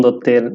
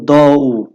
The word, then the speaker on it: দত্ত: যখন স্কুলে মাইকেল মধুসূদন দত্তের নামটা আসলো প্রথম অনেকেই এটাকে উচ্চারণ করতো দৌ আচ্ছা এটা কি দৌ কখনোই না উপরে যদি মাত্রা থাকে তখন এটা তৈ ত হয় মানে দত্ত মাত্রা না থাকলে তখন